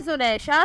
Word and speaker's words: Zunaisha: नाम है जुनैशा, स्पेलिंग है ZUNAISHA, मीनिंग है अल्लाह पाक का तोहफ़ा।